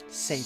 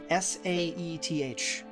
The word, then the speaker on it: Saithe: but yes, it's pronounced safe. Got it. Safe Saf? with a. No, safe. There's not a lot of leeway in how that's pronounced.